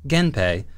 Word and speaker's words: Genpei: If you squish gen and hei together, the N sound at the end of gen changes hei to pei, giving us Genpei as the name for the war between these two families.